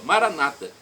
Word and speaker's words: Maranata: clamo Maranata como católicos nós falamos com a tônica na última sílaba significa vinde Senhor Jesus nossas irmãs separados os evangélicos ou protestantes colocam a tônica na penúltima sílaba Maranata não importa a pronúncia